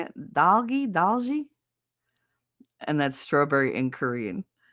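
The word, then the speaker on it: 딸기: Um, Vice Vice Baby said, "Yoda and doggy." Is that how you say it? Doggy. Dalgi.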